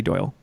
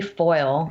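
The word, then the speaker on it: Foyle: because it sounds right so I said Kitty Doyle very close it is Kitty foil oh my f o y l e wow number three despite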